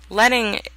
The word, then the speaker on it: leading: Leading, although it's L-E-A-D-I-N-G, is pronounced leading, is the space between the lines.